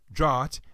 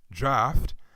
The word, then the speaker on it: draught: T consonant blend well it looks like it might be pronounced draught it's actually pronounced draft what it's actually pronounced